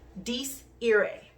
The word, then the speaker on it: Dies Irae: It's Latin, okay? And I'm pretty sure I'm pronouncing this correctly. Dies Irae.